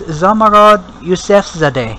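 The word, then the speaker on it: Zomorod Yousefzadeh: the lead character let's see her she Is zamarod yusf Zade did I pronounce her name correctly that's right okay but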